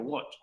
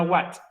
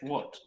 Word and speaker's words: what: Se pronuncia como si fuera una O, por si acaso, what. No una what. No es what, es what.